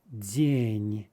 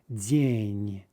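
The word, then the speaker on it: день: speaking of day uh the russian is jin jin okay so let's practice the softie sorry right so we're keeping it in the e position and without letting it drop like without letting our tongue relax we're reaching down to do what we have to do to make a d e z we also have of course here a soft n right right now again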